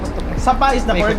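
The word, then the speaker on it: Sa Pa: going to sapa sa going sao i sapa is the word pronunciation sapa sapa sapa sapa ah okay sapa Nice.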